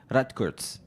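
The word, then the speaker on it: Rutgers: She's an associate professor of sociology and gender studies at Rodikert. That's a difficult name. How do you say that again? Ratkurtz.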